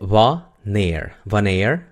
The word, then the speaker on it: wanneer: Quiere decir que la A es corta porque está entre la W y la N. Si nosotros separamos esa palabra, no se puede decir wanneer en una sola sílaba. Se tiene que decir en dos, ¿no? Wanneer.